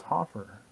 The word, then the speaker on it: Hoffer: house from hoffer i say your last name right no that's okay it's hope for rhymes with gopher uh as you get